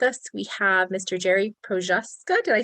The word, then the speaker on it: Prochazka: Jerry Prochazka. Did I say that right? Close Not even enough. close? The C is silent, Prochazka, but yeah, close enough.